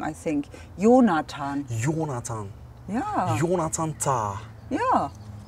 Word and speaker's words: Jonathan: But Jonathan is English pronounced, I think. Ah, okay. Ta is not a German name, I think. Jonathan.